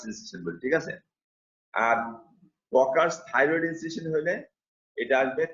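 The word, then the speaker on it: Kocher: আর এটা হলো caucus thyroid incision. এই ককার্স উচ্চারণটা অনেকেই ভুল করে বলার সময়, পরীক্ষার সময় কচার্স বলে, কচার্স না, উচ্চারণটা কি ককার্স, এইচ এর উচ্চারণ হবে না, ককার্স।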